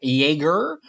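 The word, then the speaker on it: Jaeger: or spell that or As Americans like to say Jagger oh my God J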